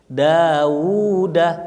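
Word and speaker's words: داود: Bangbang Haji Daud ya Daud itu wauya dua dawuda panjang bacanya tapi kalau kita lihat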